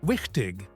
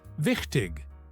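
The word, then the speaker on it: wichtig: 15 minutes in, she mispronounced wikig as vik. I corrected her. Wikig with the ch sound from the back of your throat.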